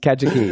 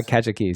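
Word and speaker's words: Kajiki: Kajaki. Yeah, Kajaki.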